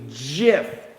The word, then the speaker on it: GIF: It's called, by the way, a GIF, like the peanut butter we have in the States. Not a GIF, even though it's spelled G-I-F.